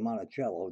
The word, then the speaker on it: Monticello: Monticello and it's definitely Monticello just like the instrument I'm going to throw